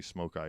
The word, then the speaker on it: Smoki: And he got cigar smoke in his eye, so they decided they were going to be Smoke Eye Indians. But it's spelled S-O-M-K-I.